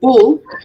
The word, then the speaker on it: bull: Okay, so if I say bull, bull is short, bull. If I say boot, it's a bit longer.